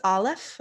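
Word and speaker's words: א: So this is Aleph, which is it's technically silent, but most Hebrew scholars would say that it is the sound just before the A in apple.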